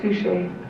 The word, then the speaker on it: Suchet: It's David Suchet. Oh. Suchet, so you know the French darling, the French pronunciation.